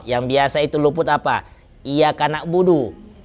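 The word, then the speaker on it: إِيَّاكَ: Iya-nya 2 kali situ tasydid. Jadi iyyaka na'budu wa iya. Kadang-kadang ada imam yang iyyaka na'budu wa iya. Iya. Itu nggak ada tasydidnya kalau begitu. Kalau dia cuma bacanya iya saja, iyyaka na'budu wa iya. Memang antara yang tasydid sama tidak tasydid ini terlalu tipis perbedaannya. Tapi bisa dilihat dari penekanan bacaan.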